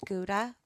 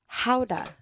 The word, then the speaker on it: Gouda: actually pronounced not like Gouda, like how we say it? How do you say it? Howda.